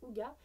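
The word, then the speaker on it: hygge: sans équivalent en français le terme a prononcé au gua évoque libéral danois confort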